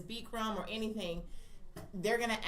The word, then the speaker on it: Bikram: Bikram. Bikram yoga, Bikram yeah. yoga. That's how you pronounce it.